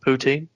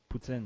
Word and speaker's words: poutine: but would call it poutin Putin yeah well like the the English way is Putin but like the right way is Putin Putin I I thought you were